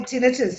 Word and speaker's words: tinnitus: A client once explained to me, like, it's like, tinnitus, that ringing ears thing. Oh, the tinnitus, Yeah, yeah.